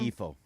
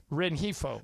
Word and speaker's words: Rengifo: Christian Oliveira, Luis, how do you pronounce that last name, Markham? Rengifo. Rengifo.